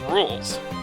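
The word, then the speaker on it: Rouxls: Fun fact, it's pronounced rules.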